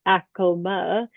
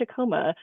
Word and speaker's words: Acoma: So Acoma, pronounced Acoma, and for any of our Denverites or Coloradans here, might be used to calling it Acoma, but we've been really specific as a city to make sure that we're pronouncing the original indigenous name for the area.